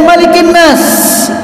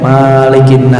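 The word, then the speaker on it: ملك الناس: dinas kemudian malikinnas ini kadang saya suka denger ada Imam suka salah dalam bacanya maligna Salah kalau malighina jadi Malik Zayn Malik yang bener-bener itu makanya panjang Malikiyaumiddin tapi kalau malikinnas pendek malikinnas ilahinas beda antara malikinnas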